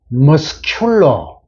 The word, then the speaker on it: muscular: 그 머슬의 최대의 복수니까 소유격 복수가 됐는데, 요건 크 발음 물론 당연하죠. 다만 이게 형용사가 될 때는 muscular.